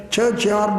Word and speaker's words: Kierkegaard: In fact, I have been reading a journal of a Danish philosopher called, I read it as Kierkegaard, but some people pronounce it as churchyard or something like that.